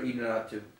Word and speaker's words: Iñárritu: Alejandro Iñárritu. Alejandro what? Iñárritu. Iñárritu. Alejandro Iñárritu, you know, let me pronounce that man name right, out of respect, you know what I'm saying?